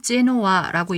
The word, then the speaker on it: Genoa: 제노바라고 해석은 되지만 영어로는 제노아라고 읽습니다.